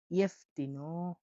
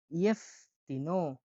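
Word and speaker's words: jeftino: ইয়েফতিনো, ইয়েফতিনো এখানে যেটা উচ্চারণ হয় ইয় হিসাবে। যেটা জ হিসাবে উচ্চারণ হয় না। উচ্চারণ হয় ইও হিসাবে। তাহলে ইয়েফতিনো, ইয়েফতিনো মানে হলো সস্তা।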